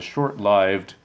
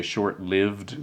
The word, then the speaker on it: short-lived: lot of people say short lived that's what most people say but it's actually the correct pronunciation is short lived that is having a short life short-lived extra-legal colony founded